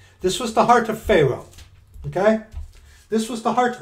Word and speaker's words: pharaoh: the heart of god and that's exactly what pharaoh's heart was excuse me it's pronounced pharaoh what pharaoh's heart was right there